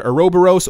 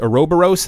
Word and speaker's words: Ouroboros: of all depending on how you want to pronounce it it's either a row burrows or Ouroboros people were mentioning before that they